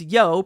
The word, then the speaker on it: Yo: Firstly, my user on YouTube is Yo, pronounced Yo like Yo-Yo, Angel.